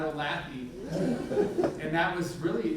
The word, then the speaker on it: Olathe: I'm like, no, you said Olathe, not Olathe.